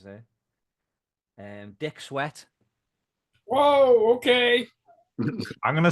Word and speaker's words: Swett: Dick Sweat. Whoa, okay. I'm gonna say that one's real. Dick Sweat. Yeah, I am. Sweat is spelled SWETT.